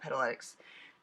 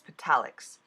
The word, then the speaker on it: Petalics: And I wanted to use the pure gold Petaletics to die cut out the tree. If you've never die cut on the metallic I said it wrong. It's Petalics.